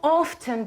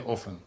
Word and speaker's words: often: This is called… А often чи “offen” (pronunciation)? Often. Often, yes. We can say both – “offen”/often. Let’s say, modern English say often but “offen” is also possible.